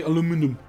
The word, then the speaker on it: aluminum: Yeah, I need steel and then aluminium. Also, when you're on the research... the Americans say aluminum.